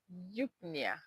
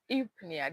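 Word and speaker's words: eupnea: Okay, another example is Yupna or Yupnia depending on the part of the the the continent or part of the globe you're from, you can pronounce it any how you want.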